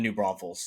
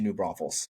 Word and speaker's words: New Braunfels: allowed to move to New Braunfels because he couldn't pronounce the name properly. As you know, he added the extra S. There is no Hmm. extra S.